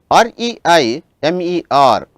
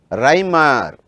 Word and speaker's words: Reimer: If you come across any name where you have the letters E and I, the pronunciation should be I. For example, REIMER, Reimer, the name is Reimer. If you get the letters I and E, then it should be E, therefore, it should be Freeze rearrangement.